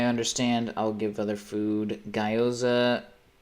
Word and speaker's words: Gyoza: Gyoza, pronounced. What the fuck are you talking about, buddy? Hold on. What are you talking about? Gyoza, pronounced like the GI and...